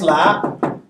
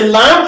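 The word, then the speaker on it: لا: the la by just la? No. So it's a lam and an elongation. La. La. The lam, the a sound is to the la, and the alif is silent. That's what makes it la.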